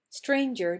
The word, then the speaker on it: stranger: row and some in-home stranger does not rhyme with anger nighter does devour with